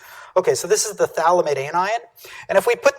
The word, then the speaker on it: phthalimide: one this is a thalamid anion we don't pronounce the uh the pH part you just pronounce it